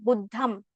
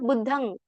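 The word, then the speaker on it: Buddhaṃ: we don't say like Buddham, even though Buddham is spelled as Buddham upper dot. It is pronounced as Buddhang, ng if we can add.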